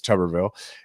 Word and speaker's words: Tuberville: about Tommy uh tuberville which a lot of people told me I was pronouncing it wrong it's tuberville and his foolishness acting